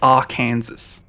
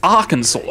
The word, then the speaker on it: Arkansas: Like I read that and I think R Kansas Kansas but the R variant. R Kansas Kansas but it's it's Arkansas and it makes no sense.